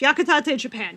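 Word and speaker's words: Yakitate!! Japan: Yakatate Japan. Yes. Yes. Yakatate. I was like I don't remember how it's spelled, so I want to make sure I say it correctly.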